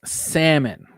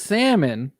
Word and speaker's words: salmon: yes it is pronounced salmon yes it is pronounced salmon because it is from a 13th century French word that did not have the L somewhere along the line